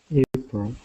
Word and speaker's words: April: this word right here it should be April April April okay perfect so you have that long a sound at the beginning April okay great everything else